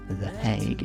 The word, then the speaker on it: The Hague: The Hague is how you pronounce this thing.